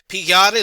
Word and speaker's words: pigliare: In Italian, pigliare l'uva, that's how you pronounce GLI in Italian. It's not pigliare, it's pigliare l'uva.